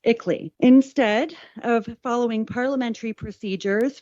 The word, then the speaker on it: ICLEI: I believe that acronym is pronounced ICLEI.